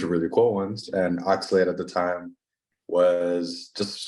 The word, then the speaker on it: Oxlade: And it's with I'm pretty bad with names, so I don't want to mispronunciate, but it's like Oxlade. Oxlade, yeah.